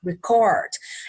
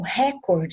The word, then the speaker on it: record: No inglês, ela vai ter 2 pronúncias diferentes. Se for o verbo, igual eu falei aqui, record, é o final dessa palavra que vai ter a sílaba tônica, tá? Que vai ter a acentuação, digamos assim, record. Agora, se fosse, né, o registro, o record, né, que seria o substantivo e não o verbo, tá? Ou seja, a coisa, aí record. Aí já é a primeira sílaba que é tônica.